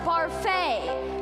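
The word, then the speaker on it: Barfée: Returning after last season's tragic setback, William Barfield. It's pronounced Barfay. There's an accent aigu.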